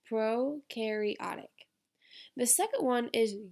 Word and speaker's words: prokaryotic: And notice I wrote down the pronunciation of the word. It's prokaryotic.